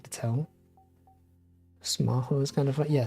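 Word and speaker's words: スマホ: Smaho is kind of fun. Yeah, smartphone. That's how they say smartphone. Cause like the way you pronounce the F and the H is the same in Japanese.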